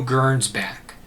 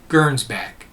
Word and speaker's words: Gernsback: science fiction a label his name is hugo gernsbach so make sure you get this into your notes his name is spelled h-u-g-o hugo gernsbach g-e-r-n-s b-a-c-k and hugo german's back was born